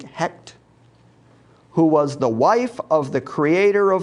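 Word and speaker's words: Heqet: embodiment of the goddess h-e-q-t pronounced i think hect who was the wife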